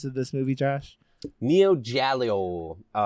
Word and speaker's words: Giallo: Yeah, that's how you say Giallo it. Giallo movies from the 70s from Italy. Yeah, that's what it reminded me of. But do you want to read the synopsis of this movie, Josh? Neo Giallo.